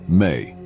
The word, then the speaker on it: me: Another potent symbol related to Enki is the Ms, pronounced May.